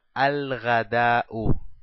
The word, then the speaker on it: al-ghadau: Decimos al-ghadau, al-ghadau. Dejamos una sola dhamma porque la palabra ya es determinada.